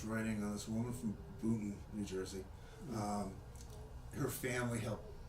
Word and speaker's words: Boonton: It's Boonton with an N. It's spelled Boonton. Everybody else pronounced it Booton, Bootn.